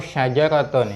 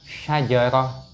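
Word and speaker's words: شجرة: Contohnya ini tawilatun, ini contohnya, atau syajaratun, ini kurang titiknya ya. Contohnya syajaratun. Ini ketika kita membacanya dengan wakaf, maka bacanya adalah syajarah. Itu bukan syajarat tapi syajarah.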